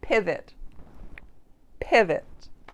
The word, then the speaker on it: pivot: And that O is pronounced as that schwa sound, which is that very short, relaxed pivot, pivot.